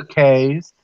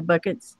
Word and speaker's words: Bucket: The bouquets? Yeah, the bouquets is the buckets. Yep. Yeah, the buckets. Pronounced bouquet. That was awesome.